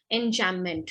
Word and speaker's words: enjambment: Pronunciation is enjambment, okay? In between, it remains silent, M and B.